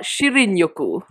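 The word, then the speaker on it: shinrin-yoku: It's called shirinyoku. Shirinyoku. That's right. Oh my gosh, your pronunciation okay, is improving so much.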